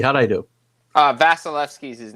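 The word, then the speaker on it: Vasilevskiy: Vasilevsky, how'd I do? Vasilevsky's his name, but you got close.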